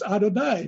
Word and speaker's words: Adonai: one little word no y yeah and he which he pronounced Y and so the rabbi helped him out and said no no that's Adonai because okay he says